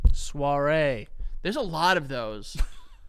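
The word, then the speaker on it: Saoirse: Ah, it's spelled like s ao i r s e. Suare.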